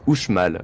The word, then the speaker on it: Uxmal: Et bien en fait le X à l'époque ne se prononce pas comme de nos jours en français. Il produit un son entre le SH et le J, un peu comme dans la langue basque actuelle. Ainsi la cité maya de Uxmal se prononce Uxmal.